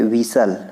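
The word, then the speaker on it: whistle: यहाँ पे विसल, विसल means होता है सीटी, यहाँ पे टी साइलेंट है।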